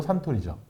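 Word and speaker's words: Suntory: 선토리예요? 선? 일본식 발음으로 산토리죠. 아 근데 왜 영어로? 선을 산이라 불러요. 산. 아 왜냐면 제가 그래서 산토리라고 많이 했는데 네. 영어가 선이니까. 그렇죠. 그래서 이 창립자가 토리 신지로라는 사람이에요. 그러니까 토리상 이렇게 불렀는데 태양처럼 빛나는 토리상이다 해서 선토리.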